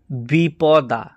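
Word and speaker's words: द्विपदा: এবার শিখবো তো এখানে দেখুন দ্বিপদা দ যুক্ত বুক্ত দীর্ঘ ই তাহলে কি হলো দ্বী হলো তাহলে দ্বিপদা দ্বিপদা তারপরে আসছে দেখুন যাস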